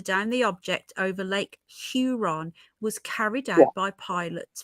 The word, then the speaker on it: Huron: that sounds you know if you say sure put an H in front of it you're on Huron Huron there you go that's